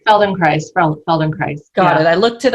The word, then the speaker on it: Feldenkrais: Feldenkrais.